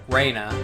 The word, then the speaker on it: Rena: then I settled on Reena who never really got an answer or nose Rena or Rena but they're pronouncing it more of a more like Reina let me I'd